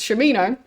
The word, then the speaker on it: Shamino: been pronouncing it as Shamino, but they really emphasize the sham.